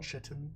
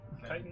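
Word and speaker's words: chitin: pronounce that kitan kitan c h i t i n chitten kitton kiton or chitten depends on where in the world you're from okay that I don't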